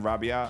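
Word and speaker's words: Rabiah: the plain Rabia, I think that's how it's pronounced, is 10.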